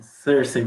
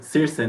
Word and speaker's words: Circe: Sim, Cersei, muito obrigado. Circe, né, na verdade, desculpa, eu sempre erro a pronúncia do seu nome.